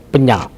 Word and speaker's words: Penyak: Misalnya kita pelajari tentang penyak. Penyak ya, penyak. Bukan penyu dari penyak. Nah, beda nyu dengan nyak kan, beda.